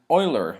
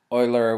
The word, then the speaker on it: Euler: a new function an Oiler or well I I say it Oiler because I know how to speak German just erer Oiler whatever you however you